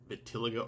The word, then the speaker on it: vitiligo: __ ] I don't know about the vertil Vitiligo I Vitiligo I said it wrong before Vitiligo